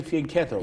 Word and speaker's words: fianchetto: You say fianchetto, I say fianchetto. Yes. Because I know my Italian is better than your Italian. Because in Italian, the proper pronunciation is fianchetto.